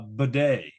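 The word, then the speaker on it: Badie: is the Tyler and it actually is pronounced uh badet so he is the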